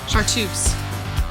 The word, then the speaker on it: chartreuse: Chartreuse.